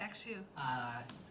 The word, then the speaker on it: Xu: How do you pronounce that? X U.